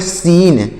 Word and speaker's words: scene: देखिएगा SCENE, तो इसे क्या पढ़ेंगे, इसे पढ़ेंगे सीन। SCENE, तो इसे पढ़ेंगे सीन। यहाँ पर भी C साइलेंट है, तो इसे पढ़ेंगे सीन।